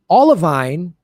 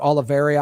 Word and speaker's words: olivine: i did a story on this last year olivine and maybe i've called it oliveria i've mispronounced it anyway olivine is this